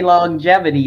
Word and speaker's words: longevity: But you actually say longevity. That's two different G's. There's a hard G on long, and then how do you get the jevity?